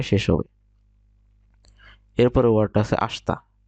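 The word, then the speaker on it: あした: হবে এরপরে ওয়ার্ডটা আছে আসতা লেখা আছে আশিতা কিন্তু উচ্চারণ করবেন একসাথে আসতা আসতামন এখানে লেখা আছে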